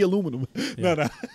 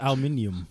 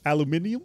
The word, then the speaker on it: aluminium: changes redesign they get aluminum they get heavy aluminum it's pronounced aluminium aluminium but that's the only thing i'll accept for